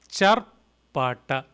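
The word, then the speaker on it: चर्पट: Charpata, T with the dot below, so rolling your tongue up, retroflex, ta, Charpata, Charpata, Charpata.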